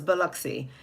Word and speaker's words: Biloxi: First of all, for those of you guys who may not be, you have the pronunciation correct. Thank you. So it's Biloxi.